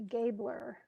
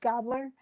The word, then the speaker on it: Gabler: gobler and it actually I think it's actually gabler it looks like that but it's it's spell it's pronounced gobler and head a gobler